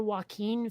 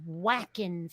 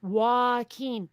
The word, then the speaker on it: Joaquin: I've mentioned before how they pronounce the name of the actor Joaquin Phoenix always came out as Whackin' Phoenix. Eek. Like not Joaquin, Whacking.